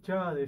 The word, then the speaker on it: Chaade: Chade, sí, Chade, ¿no? está bien. No Sí, sabés sí, si la sí. E se pronunciaba o no.